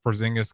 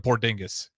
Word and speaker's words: Porzingis: but when Chris Stops Porzingis got drafted to the Knicks. Knicks fans lost their mind. They couldn't even say his name. They called him Poringis.